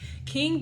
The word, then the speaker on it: QING: So King Beauty is the name. I believe that's how it's pronounced, but it's like QING. So yeah, it definitely says to find them on Facebook, Instagram, and YouTube.